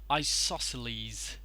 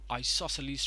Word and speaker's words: isosceles: okay this one is pronounced as isosceles I saw sceles leave I stresses on saw isosceles so isosceles triangle isosceles triangle now